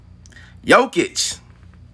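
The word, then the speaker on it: Jokić: know solid 20 points um but the joker yokitch the joker you know you're going to say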